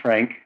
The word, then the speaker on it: Trenk: about the pronunciation of your name and the pronunciation of your Law Group sure my name is trank t-r-e-n-k and I am a partner at the